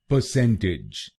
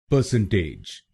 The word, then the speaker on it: percentage: तो इस शब्दांश को टेज नहीं बोलिए, इसको बोलिए टिज। तो बनेगा परसेंटेज। परसेंटेज। और आपको यह ध्यान में रखना है कि आपको दूसरे शब्दांश पर यानी CEN पर जोर डालना है। परसेंटेज। गलत प्रोनाउंसिएशन में हम आखिरी शब्दांश पर यानी TAGE पर जोर डालते हैं। परसेंटेज।